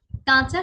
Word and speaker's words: কাঁচা: কাঁচা, কাঁচা শব্দটিতে চন্দ্রবিন্দু থাকার কারণে আমরা খানিকটা নাকি স্বরে বলবো কাঁচা, কাঁচা, কাঁচা, কাঁচা, কাঁচা, কাঁচা, কাঁচা, কাঁচা, এইভাবে।